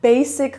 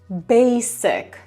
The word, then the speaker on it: basic: I jest okej, jeżeli mówisz to tak w polskim, ale pamiętaj, że po angielsku musi to brzmieć po angielsku, czyli jeszcze raz basic. Tam nie ma dźwięku z basic. Basic. This is a very basic rule.